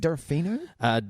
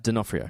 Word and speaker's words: D'Onofrio: Vincent, is it D'Onofrio? D'Onofrio. D'Onofrio.